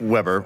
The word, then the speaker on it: Weber: So BMW has announced, so it's Frank Weber, or Frank Weber, I suspect is how it's actually pronounced.